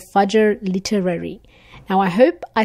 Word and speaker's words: Literary: was telling us how some would pronounce it as the word literally so I hope I'm